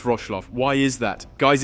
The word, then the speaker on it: Wrocław: It's pronounced Wrocław.